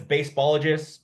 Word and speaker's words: Baseballogist: On Instagram, it's Baseballogist, TikTok, The Baseballogist, YouTube, The Baseballogist, Facebook, something baseball. It's either the or baseballogist. Baseballogist is spelled baseball, Baseballogist. It's like scientist, but baseballogist.